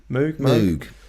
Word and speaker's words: Moog: That's Moog, right, or Moog, however you want to pronounce it. Moog. Definitely Moog. Moog, that's how we say it.